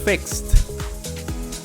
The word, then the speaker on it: fixed: Fixed. Fixed. Fixed. The same way. It's like a T in the end.